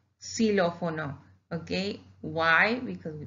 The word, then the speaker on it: xilófono: Xylophone, we say xilófono, xilófono. Okay, why? Because we pronounce it like that.